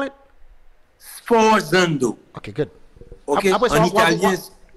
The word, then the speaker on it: sforzando: Comment des monsieur fait ça en musique, on sforzando. What is this? What is this? Là, par exemple, trompette, tu fais. Oh, okay. How do you call it? How do you call it? Sforzando.